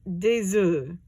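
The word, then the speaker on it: œufs: is enough plural is De Zoo so when it becomes plural both the F and the S become silent don't know why just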